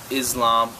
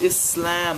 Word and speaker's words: Islam: or islam they'd say islam muslims i'm like just it's pronounced islam there's no letter z in there my mom's like we'll